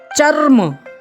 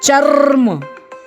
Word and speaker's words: चर्म: चर्म चर्म चर्म जी हां ध्यान दीजिएगा चर्म बोलने के लिए तो लोग चरम भी बोलते हैं लेकिन चरम का और चर्म में दोनों में फर्क होता है उच्चारण में भी और अर्थ में भी चरम हम आसानी से बोल देते हैं और चर्म को बोलने के लिए हमें थोड़ा सा बल बल लगाना होता है। यानी ऊर्जा थोड़ा हम ज्यादा खर्च करते हैं उच्चारण करते समय चर्म।